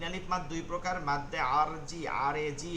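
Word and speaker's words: مد عارض: মাদ্দে লিন তিন আলিফ মাদ দুই প্রকার মাদ্দে আরজি আরজি মাদ্দে আরদি আসলে এটা উচ্চারণটা দয় কিন্তু এটা বাংলাতে আরজি বলে ঠিক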